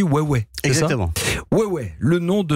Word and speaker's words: Huawei: Sur la publicité, les publicités, il est écrit, si je le fais phonétiquement, Huawei. Mais en fait on dit Huawei.